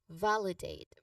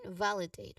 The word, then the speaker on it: validate: Now pronunciation wise validate the stress is on the first syllable val which has a